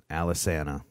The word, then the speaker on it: Alesana: the proper pronunciation of my band name is alice enter Alice Anna man now I feel